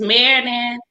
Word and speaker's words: Meriden: Meriden.